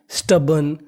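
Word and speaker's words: stubborn: और यहाँ पे आर हमारा साइलेंट है। साइलेंट का मतलब है कि आर का उच्चारण आपको ऐसे करना है कि सामने वाले इंसान को ये ना पता चले कि आपने आर बोला है कि नहीं बोला। तो मीनिंग बनी स्टबन।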